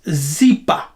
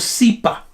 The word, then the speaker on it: zipa: Now, in Kikongo, in Kikongo Lingala, it's Zipa, or Sipa. Now, the S and Z are interchangeable.